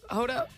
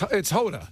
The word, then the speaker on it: Hoda: Yes, with, I say her name wrong. Huda? It's Hoda. Hoda. Sometimes I call her Huda.